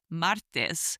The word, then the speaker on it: martes: Next, we have Tuesday, which is martes, martes, spelled M-A-R-T-E-S.